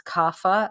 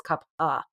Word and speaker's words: kapha: A lot of people mispronounce this as kapha. It's with a ph, but it's kapha.